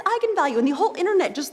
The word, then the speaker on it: eigenvalue: the director said yes that is how you pronounce it so I went out there and said that's right egon value and then apparently the internet went nuts when it came out because apparently it's pronounced eigenvalue that's how you're supposed to say and the